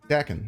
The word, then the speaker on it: Daken: It's not pronounced like bacon. It's pronounced like Daken, like how I'm saying it.